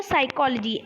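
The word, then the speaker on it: psychology: साइकोलॉजी लिखने हो ना साइकोलॉजी शुरू कहां से करते हो पी से लेकिन बोलते क्या हो साइकोलॉजी एस से शुरू करते हो बोलना यानी पी क्या होगा साइलेंट होगा तो चलिए देखते हैं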